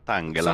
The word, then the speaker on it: Tangela: Tanghela o Tangela, perché non lo so. Eh, Tangela, onestamente. Tangela. Va bene. E se lo leggessi in italiano? In realtà, Tangela. Va bene . Quindi è tipo "Angela", giusto?